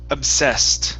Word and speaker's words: obsessed: e d ending okay this word is pronounced obsessed the ed at the very end will be pronounced like a t okay obsessed obsessed okay